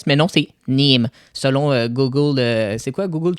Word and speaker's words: Nîmes: On se retrouve à Nîmes en France parce qu'on a regardé comment ça se prononce Nîmes parce qu'il y a un S, puis je pensais que c'était Nimes, mais non, c'est Nîmes.